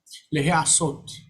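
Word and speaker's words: להעשות: But ayin rejects dagesh, and instead of he, it becomes he.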